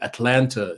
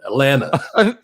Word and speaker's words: Atlanta: I'm if in your defense, I'd probably still say Atlanta instead of like making the T silent, isn't it? Atlanta. Listen, Atlanta.